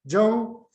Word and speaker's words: Ten: His the Russian pronunciation of his surname, second name is Ten, Korean is Jong.